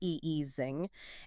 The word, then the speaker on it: Ising: The 3D Ising model, which is the math for the magnet with up down spins, that's pronounced eesing, and the 3D binary fluid mixture belong to the exact same universality class.